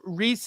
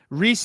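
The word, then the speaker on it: Rhys: I saw him out it's spelled like rise like the guy from the r RH Ys yeah uh yeah he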